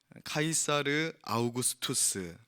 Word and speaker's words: 카이사르 아우구스투스: 이렇게 성경의 되어 있는데 카이사르 아우구스투스 성경이 옛날 분들은 이게 영어 발음이 안 되니까 본인들 들리는데 이렇게 적어 놓으신 거에요 그래서 가 249 수도